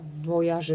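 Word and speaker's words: Voyages: Vagabond i do tego to się wymawia wojaże swanta Fantastic bo to jest chyba po francusku i właśnie będzie taki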